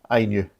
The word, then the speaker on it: INIU: It's pronounced INIU.